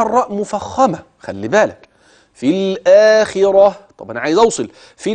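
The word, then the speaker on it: الآخرة: كلمه في بكلمه الاخره لكن لو وقفت في هوصل في الاخره اوعى تقول في الاخره لا دي تاء مربوطه لا تنطق تاء الا عند الوصل اما اذا وقفت تبدل هذه التاء المربوطه هاء كده الاخره ماشي الكلام خدت بالك بقى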